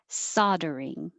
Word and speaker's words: soldering: And 23, it looks like an L, but we don't say the L. Soldering. Saw, open, soldering, soldering.